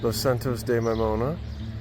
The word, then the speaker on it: Los Santos de Maimona: Just passed through Los Santos de Maimona, which uh we have now heard is the correct way to say that.